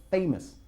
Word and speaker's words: famous: Or he's a famous person. ¿Cómo pronunciamos famoso en inglés? Well-known person. Sí, y con la... con famous. Con famous. Famous. Famous. Famous. Famous y no famous.